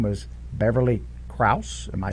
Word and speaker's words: Beverly Krause: This person her name was Beverly Krause.